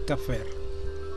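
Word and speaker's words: כפר: Pie izquierdo, de derecha a izquierda, se lee Kaf, Pep, Reis. Se pronuncia Kafer, que quiere decir expiación,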